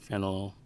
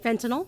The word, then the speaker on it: fentanyl: of the information I have been receiving regarding fennel how do you pronounce that fentanyl Fentanyl and there's another drug that's involved that's